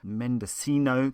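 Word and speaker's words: Mendocino: Mendescino County as I now know to pronounce it.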